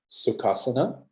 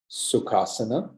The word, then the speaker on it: Sukhasana: So listen to my pronunciation. Sukhasana, Sukhasana.